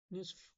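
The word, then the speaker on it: نصف: হবে একদম শুদ্ধ শব্দ নিসফ এখানে নিসফ এখানে নিসফ অর্থ আধা বা অর্ধেক এখানে বলা হয় নুস নুস কোন আরবিতে আধা বা অর্ধেক বুঝায় এমন কোন শব্দ নাই নুস নেসফ একদম শুদ্ধ শব্দ যারা আরবির সাথে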